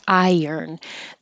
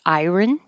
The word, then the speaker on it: iron: with water that's it the word iron is not iron the r and the O are kind of Switched so I write it this way to help people remember I and you can think of it as earn like earn money or yearn because your tongue